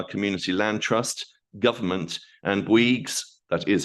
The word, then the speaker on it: Bouygues: the Swaffham Prior Community Land Trust, Government, and Bouygues, that is how you pronounce it, Energies and Services Limited, and the